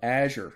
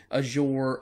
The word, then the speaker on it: Azure: Microsoft's cloud service that does this, their IaaS service, is called Azure. Now, let me just kind of clarify. You may pronounce that name, that word, a little different than I do, Azure or Azure or Azure.